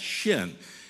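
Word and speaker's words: שין: And it's pronounced just like it's called. It's Shin.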